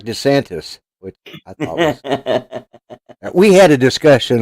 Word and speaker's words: DeSantis: yesterday i called him i said de santos because you know i'm thinking it's florida they're probably cubans okay no he's italian and it is desantis and that was what